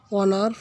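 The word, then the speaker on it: honour: Number 24ফ ইট was dash অনার ফর মি।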